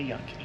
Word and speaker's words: Yunque: If you're a white person, you say Yunk. If you're not, you say Yunque. I think the locals say Yunque.